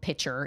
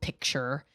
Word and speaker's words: picture: are school teachers that pronounce it especially and pitcher instead of picture you know and I try really hard to teach my kids to pronounce those things correctly.